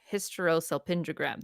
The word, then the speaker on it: hysterosalpingogram: hysterosalpingogram yeah sure no I said it wrong hysterosalpingogram there we go I was I was so